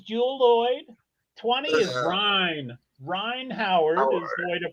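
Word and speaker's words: Rhyne Howard: Ryan Howard is the way to pronounce it.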